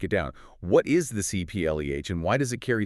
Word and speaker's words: CIPLE: And as we always have to stress, let's make sure we're all saying it correctly. It's CPL. CPL.